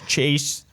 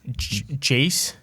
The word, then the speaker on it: Jace: is just at baseball but uh and that's chase jace yeah peterson a very odd name let's say